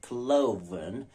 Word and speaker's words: cloven: say break and stake but Bleak and streak cloven oven how and low c-l-o-v-e-n cloven o v e n oven so it's not